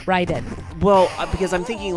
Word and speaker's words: Raiden: in chat too you you said you are bothered when people say Raiden but I thought that's what because he the announcer said how pronounced in the game but the actual legit way to pronounce that name is Ryden well because I'm thinking